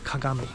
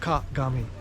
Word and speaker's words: kagami: Well, mirror in Japanese is called kagami. 3 syllables, kagami.